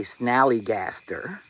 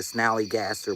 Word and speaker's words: Snallygaster: And the first one I want to talk about is something called a snallygaster. Spell it Snallygaster.